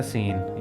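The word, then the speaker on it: scene: तसवर किया जाएगा और चौथा लफ्ज है सीन यानी मंजर यहां भी सी से पहले एस आ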